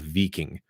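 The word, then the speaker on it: víking: it that way today but back then it was called veeking veeking is something you did and when you did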